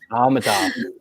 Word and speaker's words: Amitaf: How to pronounce it again? Amitaf. Amitaf, thank you.